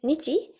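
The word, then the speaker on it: 日: Not necessarily like this kanji in Nihongo stands for simply ni, but here it means nichi. So the pronunciation is different, but the meaning is the same.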